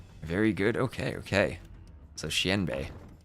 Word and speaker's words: Xianbei: Oh, Xian rhymes with pen. So, Xianbei Raiders? Xianbei Raiders.